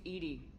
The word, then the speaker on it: EDI: the airlock is ajar the number you named ed ed is the phonetic pronunciation of Ed eyes that is an acronym